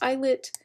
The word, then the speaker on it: islet: called islets of langerhans it is a silent s like the word island oh yeah the word